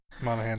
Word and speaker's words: Monaghan: Is that how you pronounce his name? Monaghan.